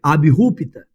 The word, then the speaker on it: abrupta: Mudança abrupta, assim é a pronúncia, abrupta, provocada pela abolição da escravidão, que trouxe sérios prejuízos para os antigos proprietários e para a população agrícola.